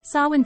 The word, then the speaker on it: Samhain: Samhain, pronounced sow-in, is a Gaelic festival that marks the end of the harvest season and the beginning of winter in Celtic tradition.